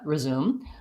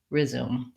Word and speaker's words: resume: for many unstressed syllables the most important thing is that those first syllables in both those words are short and reduced and so they have a reduced vowel which can either sound like the schwa reduced resume or the resume there really doesn't matter